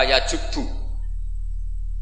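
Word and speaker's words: يجب: Itu bacanya bukan yajibu tapi apa? Yajubbu a yaqtou.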